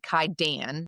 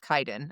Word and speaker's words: Kaidan: She said Kaidan like instead of Kaiden. I think Kaiden flaiden's better.